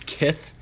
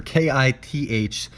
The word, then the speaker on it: Kith: plus shipping and then this is kith k-i-h or k-i-t-h so it's like Mike Tyson saying kiss basically is how I would pronounce that brand is kith so these shorts are